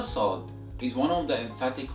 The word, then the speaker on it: ص: So the 14th letter of Arabic is pronounced as Saad. Repeat after me. Saad.